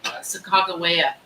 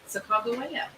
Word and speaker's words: Sacagawea: Sacagawea. That is the correct way to pronounce her name.